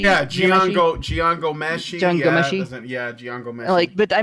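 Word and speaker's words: Jian Ghomeshi: And if you want to go out of the United States, there's how do you pronounce his name? Gianmessi? Yeah, Gian Gomeshi.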